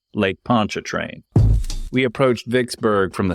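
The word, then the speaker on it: Pontchartrain: he gently corrected me was not actually pronounced like a French word by a person who thinks he can speak French but is of course pronounced Lake Poncha train we approached Vicksburg from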